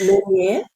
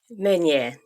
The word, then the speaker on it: Meunier: It's Meunier. Meunier, yeah. Meunier, a beautiful French sounding name.